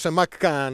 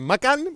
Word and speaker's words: Macan: First of all, I must warn you: I'll pronounce it "Maccan" instead of "Macan", because it's easier for me. Anyway. This is Porsche Macan.